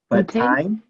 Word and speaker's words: butane: Butane. So butane, yes. Oh. Yeah, it's pronounced bute, but butane.